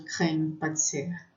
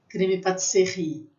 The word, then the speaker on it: crème pâtissière: Dificilmente a gente usa crème pâtissière. E aí, cuidado, que às vezes algumas pessoas falam assim, creme patisserie. Não, não é creme patisserie. Patisserie é confeitaria.